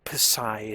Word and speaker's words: psi: this right here this this psy or pissai as you might have heard somebody pronounce it before so this psi here